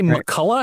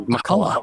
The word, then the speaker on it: McCullough: Do you say Makulla? Am I saying your name right? You are saying it correctly. Makulla.